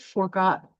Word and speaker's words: forgot: The word forgot is an iambic foot. So an iambic foot is an unstressed syllable followed by a stressed one. Forgot, the stress follows on the second, forgot.